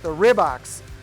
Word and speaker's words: Rybak: The last family that owned that business was the Rybaks. You could also pronounce this Rybak.